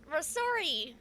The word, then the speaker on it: Rasuri: the Rasuki? Who is what's the? Rasuki? So you have their name right in front of you. Rasuri. There you go. There's no K in there, and I'm not okay.